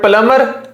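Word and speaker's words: plumber: Find the silent letter in word प्लमर। इसको प्लमर पढ़ना है। बी पर जोर नहीं डालना। तो बी जो है वो साइलेंट आपका लेटर बन जाएगा। तो ये हो जाएगा प्लमर।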